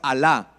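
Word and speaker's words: עלה: subir a ascender la palabra a alah no no no alah el Dios no ojo que se escribe diferente en hebreo se escribe totalmente diferente esta palabra es alah sí que significa ir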